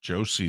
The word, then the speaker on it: Josi: Although there's a big push for Josie there in Nashville to win the Norris. Or Yossi, I guess they pronounce it.